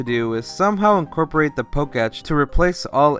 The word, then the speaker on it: Poketch: Something I also fear may not return is the Poketch, which I'm right now finding out it's pronounced Poketch, like Pokemon plus Watch? My whole life I've been calling it the Poketech.